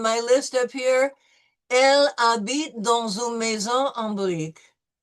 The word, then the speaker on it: habite: Elle habite dans une maison en briques. Elle habitait en maison et briques. Okay, no, we don't pronounce the H, right? It's silent.